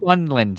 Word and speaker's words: Newfoundland: New Funland, she said. New Funland. That's kind of how you say it.